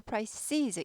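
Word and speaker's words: prices: 품목의 한꺼번에 다 올랐어요 그래서 프라이시즈 발음은 price에서 price 아니고 프라이시즈 잊어버립니다 복수니까 이제 아니고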